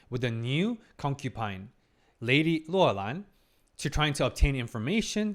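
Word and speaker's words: Loulan: So in Chinese pronunciation is Luolan. I can't really tell you what it means because there's so many possible interpretations and meaning.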